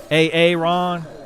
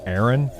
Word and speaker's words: Aaron: A Ron Oh, it's pronounced Aaron.